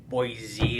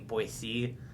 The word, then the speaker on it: Boise: always pronounced it as boy z until i came here and then i switched to saying boy c and though i heard that linguistically it should be boy z but it's but that's